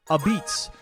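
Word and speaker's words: apizza: New Haven style pizzas are called this which looks like a pizza but really it's pronounced a beets and that's really fun to say and I will say it a lot in this video.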